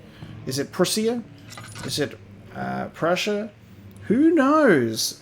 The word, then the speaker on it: Prussia: I'm just going to pronounce it as you would Russia with a P on it. Is it Prussia?